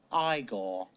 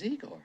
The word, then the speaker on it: Igor: it's Frederick Frankenstein I see you must be eigor now it's pronounced igore but they told me it was eagor well they were wrong then weren't they it's